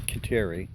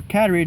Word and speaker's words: Kateri: Now, you pronounce it Cattery, not Kateri. Kateri. No, you over here you pronounce it Kateri. But what do you pronounce it as? Cattery? Cattery. Okay. So that would be... In Canada, how they pronounce it? that would be the Cattery way.